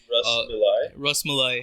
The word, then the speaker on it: rasmalai: Rasmalai.